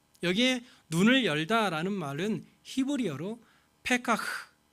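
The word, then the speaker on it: פָּקַח: 여기에 눈을 열다라는 말은 히브리어로 페카흐, 히브리어는 흐 이런 게 있어요. 그리고 칵 이렇게 막 가래침 뱉는 이런 발음이 있어요.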